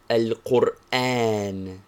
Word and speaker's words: القرآن: Examples: Al-Qur'án, Quran. Al-Qur'án, Al-Qur'án, Quran. Al-Qur'án. Be careful to pronounce it thus.